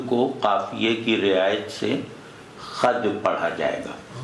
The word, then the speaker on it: خود: اچھا یہاں خود کو قافیے کی رعایت سے خد پڑھا جائے گا. تلفظ خود ہے لیکن بد کا قافیہ ہے نا یہ، تو اس کو خد پڑھا جائے گا.